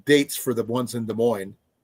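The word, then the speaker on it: Des Moines: for the ones in de mo des Mo it's de Mo the ass is silent de Mo D Dar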